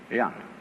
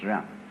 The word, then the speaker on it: Jen: In Confucius philosophy, the fundamental virtue of a human being is called Zen, spelled Jen for reasons best known to Chinese scholars. I don't know what they are, but it's pronounced Zen.